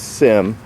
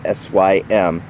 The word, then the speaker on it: SYM: out of taiwan it's commonly referred to as sim but it's not pronounced that way it actually is sym it's a 171 water